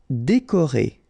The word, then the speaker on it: décoré: Décoré. Okay, so E accent aigu, E accent aigu, E, décoré.